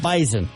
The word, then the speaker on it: Bison: It's like a Z. You know? Yeah. Bison. Even though it's spelled with an S, but whatever.